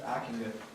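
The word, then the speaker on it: Ockenga: Okenga. Okenga? I think. It's Akinga.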